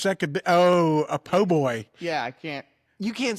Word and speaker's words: po' boy: Say po, Po boy. boy, Now put them together. pole boy.